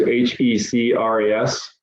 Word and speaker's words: HEC-RAS: says you can use h-e-c-r-a-s to export image imagery data that you can then bring in the cad you use hec-ras that's how that's pronounced um oh you serious